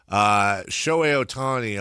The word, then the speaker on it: Shohei Ohtani: Shohei Ohtani, on the other hand, which also rhymes with show me the money, same syllables.